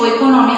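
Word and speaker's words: οἰκονομία: सीधा pronunciation ओइकोनॉमिया, spelling गलत नहीं होना चाहिए।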